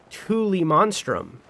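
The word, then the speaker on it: Tullimonstrum: And it's pronounced Thule monstrum.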